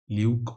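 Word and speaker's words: Luebke: Luke oxen Bean flap Luke oxen beam B is silent in this L ke Luke oxen Bean flap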